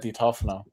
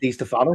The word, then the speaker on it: Di Tofano: Di Tofano.